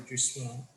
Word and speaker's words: jouissance: How would you describe the Jouissance? I butchered that and I apologize.